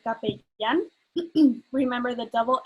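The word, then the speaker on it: capellán: the the chaplain um and and you say cape yen remember the double l is pronounced as a so it's um maybe they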